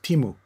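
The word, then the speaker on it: Teemu: Kimu. I don't ask me to pronounce his last name. Timu.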